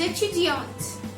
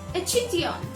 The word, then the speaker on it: étudiante: Je suis étudiante. Je suis étudiante. I am a student. Je suis étudiante. Remember, if you are a male, if you are a boy, you will say étudiant.